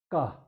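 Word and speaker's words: ཀ: This is ka. Ka. If for most of the English speaking students, they have some difficulty pronouncing the first letter ka. Ka. So when you say ka, there shouldn't be any aspiration.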